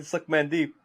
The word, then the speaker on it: Sukmandeep: His name is Suckman Deep. Like, that is a real fucking name. It's spelled SUKMANDEEP. So Suckman Deep.